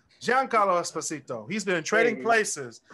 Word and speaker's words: Giancarlo Esposito: been in everything who giancarlo esposito giancarlo john carlo i was about to say like who is that dude there it is young carlo you say it right giancarlo esposito he's been trading